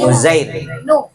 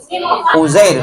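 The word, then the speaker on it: عزير: Jadi kalau yang tadi Uzair yang Yusa tadi nama lainnya Uzair. Uzair itu ejaannya ain za ro ain. Uzair. Uzair. Uzair. Uzair. Ya. Ain ya. Awalnya ain. Ain.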